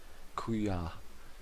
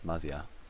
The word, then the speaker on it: Mazia: I think Kuya. I'm gonna give him a nickname because I can't pronounce his name. Sorry, mate. Mate, can I call him mate? No, it's Mazia.